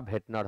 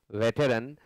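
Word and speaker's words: veteran: हो, बड़ा भेटनर हो, यही शब्द है, भेटनर नहीं है। कहना होता है लोगों को वेटरन, लेकिन अपभ्रंश हो गया है, बिगड़ चुका है, प्रोनाउंसिएशन पकड़ में नहीं आया लोगों को, तो लोग वेटरन को भेटनर कहने लगे।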